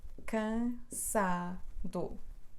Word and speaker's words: cansado: e vamos contar juntos tô cansado última penúltima antepenúltima então o acento recai na penúltima cansado o que dela que